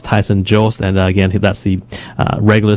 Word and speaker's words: Tyson Jost: And actually, that's Tyson Jost. I know during the regular season, I mispronounced his name many times, but his name is Tyson Jost, and again, that's the regular season scoring leader for BC Major Midget League.